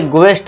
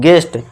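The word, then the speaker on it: guest: इस तरह से गेस्ट नहीं, गेस्ट। यहाँ पे क्या देखिए दोस्तों, हम इस यू को साइलेंट कर देंगे।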